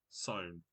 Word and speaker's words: Samhain: Sown. Yeah, it's sown. It's pronounced.